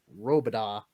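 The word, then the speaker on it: Robidas: about google robida island that's r-o-b-i-d-a-s pronounced robada island now back to your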